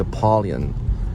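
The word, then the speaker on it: Apollyon: play Christian um and apalon or I first played apolon and then I played Christian we pronounced his name as as aolan which is basically like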